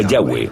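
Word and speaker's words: Yahweh: español son yhw H pensamos que probablemente se pronunciaba yahwe o algo así pero yahwe solo aparece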